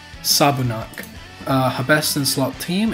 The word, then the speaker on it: Sabunak: Sabunak.